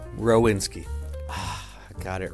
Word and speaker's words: Rowinski: Rowinski. I got it wrong. Well, I got it partly right. On the way here, I was like, is it Rowinski or Rowinski?